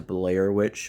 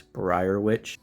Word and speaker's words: Brier Witch: I keep mispronouncing her name to Blair Witch when it's Brier Witch, but let's look at her ultimate.